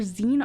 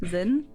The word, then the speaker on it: zine: Like your zine article. Zine? I don't know. Zin. Yeah. Zin. Yeah. I remember pronouncing it zine for so long.